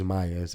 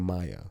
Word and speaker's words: Maya: Thus was born the name Maya, which English speakers wrongly pronounce with an English Y sound.